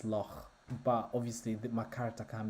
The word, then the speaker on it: loch: They don't say loch, it's loch. In Scotland they say loch. So I've been asking a lot of people about it, and apparently it's Loch, but obviously my character can be called Stormloch.